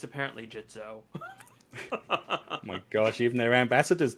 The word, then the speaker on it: Gitzo: go into the uh jitso legend camera basket it's going to take me a while to get used to saying jitso now i feel bad for saying it wrong for so long now yeah it's crazy